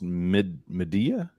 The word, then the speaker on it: Midea: Uh, my is it is it literally pronounced M media?